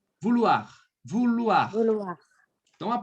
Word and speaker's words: vouloir: Vouloir. Vouloir. Vouloir. Vouloir. Então, a pronúncia aqui vai ficar assim, ó, Bia.